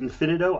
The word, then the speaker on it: Infinito: I pronounce it Infinito.